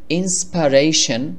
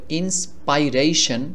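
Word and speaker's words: inspiration: হওয়ার কথা ছিল এভাবে ইন্সপাইরেশন কিন্তু গুগল ট্রান্সলেট বা যাদের ভাষায় ইংলিশ তারা বলে ইন্সপারেশন আই টাকে এ এরকম একটি এ এর মত করে উচ্চারণ করেন আই এর পরিবর্তে এ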